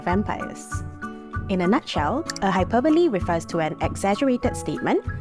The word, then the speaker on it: hyperbole: statements relatable you would have understood two different hyperboles today let's delve into how to use and identify hyperboles when it comes to English firstly attempt to